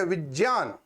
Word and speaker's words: विज्ञान: होता ज जैसे विज्ञान को हम अगर शुद्ध उच्चारित करें तो बोलेंगे विज्ञान क्लियर अब मेरा आपसे एक अनुरोध रहेगा भविष्य में आप जब भी इसका उच्चारण करो तो ज्ञ ना कर कर के ज की तरह करना क्योंकि आप व्याकरण सीख